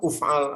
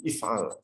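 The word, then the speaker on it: إفعل: Otomatis bacanya if'al, tidak bisa dibaca uf'al atau af'al, enggak, tapi if'al.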